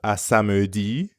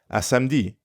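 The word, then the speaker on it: à samedi: spoken language gets messy so instead of assamudi you're more likely to hear a French speaker say assamdi it means the same thing asamdi see you Saturday now let's practice this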